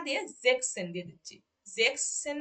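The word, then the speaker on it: sechzehn: তারপরে যখন জেক্স এর ঘরে যাচ্ছে, অর্থাৎ জেক্সেন, অর্থাৎ 16-কে যখন আমরা বলতেছি তখন এই যে এসটাকে আমরা তুলে দিচ্ছি, অর্থাৎ জেক্স সেন না দিয়ে জেক্সেন দিয়ে দিচ্ছি, জেক্স সেন না দিয়ে জেক্সেন দিচ্ছি।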